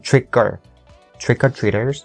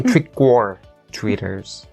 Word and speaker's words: trick-or-treaters: that I noticed, that for the word trick-or-treaters, even though the word or has to be pronounced with the or sound and is a very strong sound, but you make it a little bit softer by saying trick-or-treaters. You don't say trick-or-treaters.